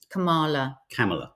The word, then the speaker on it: Kamala: have another message from someone saying it's like Pamela. But it's not. And actually, you know what she said? It's okay. Say my name, however. Kamala.